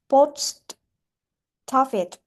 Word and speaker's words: post office: So we need to link the final consonant to a vowel. So now it will be pronounced post office, post office, post office.